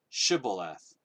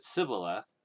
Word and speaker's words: shibboleth: If he replied no, they said, "All right, pronounce Shibboleth." And if he said Sibboleth, because he could not pronounce the word correctly, they seized him and killed him at the fords of the Jordan.